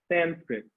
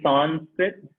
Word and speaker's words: Sanskrit: right okay okay so sanskrit the word is um s i'm going to type this out s-a-n-s-k-r-i-t can i spell that right nope s-a-n-f-k-r-i-t sanskrit some people say son spit i typed it wrong